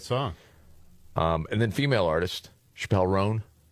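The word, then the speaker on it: Chappell Roan: And then female artist, Chappelle Roan. Chapel Roan.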